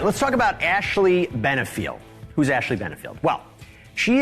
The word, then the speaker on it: Benfield: It's Ashley Benfield, not the regular host and namesake of this program.